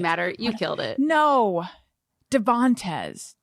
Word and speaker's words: Devantez: weird i even wrote i even wrote the middle syllable in all caps and then when i said it i put the emphasis in the wrong place devontes yeah devonte it doesn't